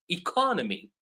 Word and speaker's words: economy: But the field is economics. I'm putting the stress on a different word or a different syllable. So this is what happens sometimes. Like you have similar words, but well, they are similar words. They come from the same root, but they don't have the same stress pattern.